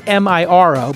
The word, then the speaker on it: Miro: other important information directly into Miro and that's Mir oh but it's pronounced Miro and you get in there and